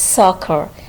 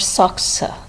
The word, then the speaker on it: soccer: here you can see the second c is followed by e but it is not giving the soft sound sir rather it is giving cur sound we pronounce both the letter c as a single curse sound it's soccer it's not soccer so can you find